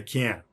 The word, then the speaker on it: can't: i can i can so that's the rule is that when you have n followed by t at the end of words or sometimes in the middle of words that t is a stop t it's silent other examples internet classic